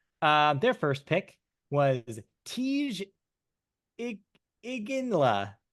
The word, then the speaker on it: Iginla: first pick was Tej Iginla. Ijinla. Iginla. Soft G. I like Yeah, it. soft G.